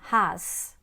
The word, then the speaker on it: has: For instance, after teaching has, you can explain his, is, as. They all follow the same pattern of being spelled with an S at the end but pronounced with a Z sound.